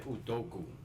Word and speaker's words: Udoka: Ime Udoka. What he said. Yeah. So sound like Sudoku. Sound like Sudoku.